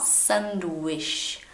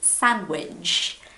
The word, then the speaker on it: sandwich: It's not sandwich. No, it's very soft in English, so it's sandwich.